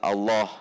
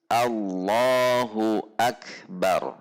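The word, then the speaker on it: الله أكبر: Namun di sini ada yang membacanya dengan cara memanjangkan huruf hamzah pada lafaz Allah. Jadi dibacanya Allah. Ini yang tidak diperbolehkan. Jadi harus hamzah berupa alif yang ada pada lafaz Allah ini dibaca pendek, tidak boleh dipanjangkan itu dipanjangkan. Jadi langsung langsung masuk ke lam, tidak Allah seperti itu.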